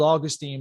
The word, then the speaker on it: Augustine: It's spelled Augustine, but I believe it's pronounced Augustine.